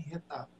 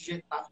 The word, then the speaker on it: Getafe: Então, não é diferente aqui em Retafe. A pronúncia é Retafe. Retafe. Tá? Isso. Então, nós que brasileiros, que abrasileiramos, chamamos de Getafe quando conversamos uns com os outros.